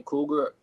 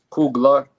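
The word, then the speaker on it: Coogler: I want to give a special shout out to Ryan Cougar. If I'm saying your last name wrong, bro, I do apologize. Kugler.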